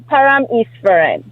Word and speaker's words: Paramesvaran: Pam Iserin.